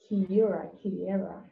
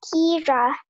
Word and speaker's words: Kira: Kiera. Am I pronouncing the name correct? No, ma'am, it's Kira. Kira.